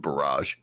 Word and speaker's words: barrage: Yeah, and that word is pronounced barrage.